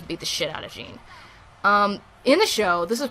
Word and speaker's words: Jin: was talking in the, you pronounce it Jean, not Jin, but whatever.